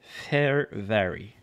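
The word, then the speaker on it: Fehérváry: Sans blague, il faut dire Fervary. Et là, mes sleeves, allez, ne sont pas coopératrices. Allons-y. Et voilà. Alors, Martin Fervary, Young Guns pour les Capitals.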